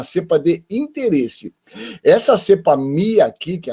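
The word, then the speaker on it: μ: Mas Mu é na letra, na verdade é Mi, né? Na pronúncia do alfabeto grego.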